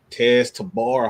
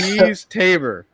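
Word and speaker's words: Teez Tabor: It's Tease Tabor. Tease like joking, you tease.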